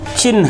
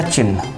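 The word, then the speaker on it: चिह्न: देखिए, हमने गलत उच्चारण किया और गलत लिखा चिन्ह, ये इसका उच्चारण भी गलत है और वर्तनी भी गलत है। इसका उच्चारण होता है चिन्ह, आधा हा ये और पूरा ना, ऐसे भी सही है,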